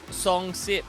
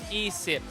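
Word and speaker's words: ยี่สิบ: I would say song sip, but I know it's yîi-sìp, you know.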